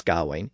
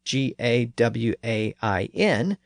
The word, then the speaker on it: Gawain: First, if we use the normal spelling G-A-W-A-I-N, we encounter that letter combination A-I in the second syllable. In Old English, that spelling typically represented the I sound, so that would give us the pronunciation Gawain.